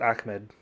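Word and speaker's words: Ahmed: Deandre was it yeah is yeah he actually pronounced it ammed he's a new guy s ammed okay DeAndre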